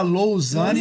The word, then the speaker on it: Lausane: Se fala Lousane, mas se pronuncia, se escreve Lausane.